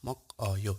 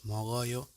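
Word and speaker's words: 먹어요: goes to the vowel so the pronunciation is not mock or yo it's magoyo it's not ick or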